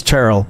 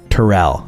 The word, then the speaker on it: Terrell: say that he said as long as you pronounce my name with one syllable instead of two were good it's charile not Tyrell oh wow I'm such